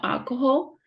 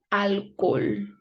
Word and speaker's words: alcohol: It's not alcohol, it's alcohol.